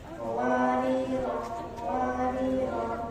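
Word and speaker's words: قواريرا: Wariro cara membacanya ada 3. 1. Berhenti pada wariro ayat 15 maunya dibaca panjang. Wariro ayat 16 maunya dibaca pendek.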